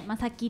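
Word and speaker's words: 真樹: うんうんうんうん、で、真実の真に樹木の樹って書いてまさきって読むんだけど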